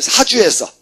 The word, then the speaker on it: 사주: 범이야 교사 범이야 범행을 사주해서 그죠 범행을 사주했다 이런 이야기입니다 그죠 그래서 그래서 들어보셨죠 어 뭐야 사주 네가 해 네가 해 이걸 사족이라고 읽으면 안 됩니다 그렇죠 반드시 주야 교사요 입만 살았네요 입만